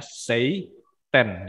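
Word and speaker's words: seitan: site and society ya Bukan setan ya tapi tulisannya stay tune ya bacanya Sei ten site end site itu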